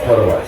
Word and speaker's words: Podavach: I've been saying it wrong. How do you say it? It's Podavach. It's Podavach.